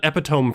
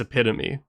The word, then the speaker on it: epitome: So I called it epiome for years until one of my friends looked at me and was like, "Hey dude, that's like not even close. It's epitome."